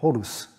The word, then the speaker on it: Horus: d dérié de nom Horus en égyptien Horus se prononce hor au h en nom